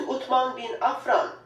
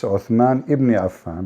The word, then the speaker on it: Uthman ibn Affan: As you can see, title states Al-Musaf Al-Sharif, attribute to Uthman bin Affan, the copy of Al-Masar Al-Husseini in Cairo. So Yeah. Cairo You know, she said the name wrong. It's Uthman ibn Affan, but it's okay.